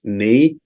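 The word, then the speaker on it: névé: Yeah, so this is pronounced as Nave.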